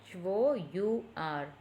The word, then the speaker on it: hour: Our, Hour. Usually H. So, how to pronounce hour? But here H is silent. So, we are pronouncing as our.